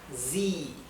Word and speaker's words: sie: es ella, recuerden que la I con la E se pronuncia I, como una I más larga, I, sie, wir es nosotros, ihr